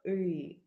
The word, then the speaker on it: ы: Actually, it's sometimes it can be difficult to pronounce it, but I will tell you how to do this the best. You need to say the letter U and smile.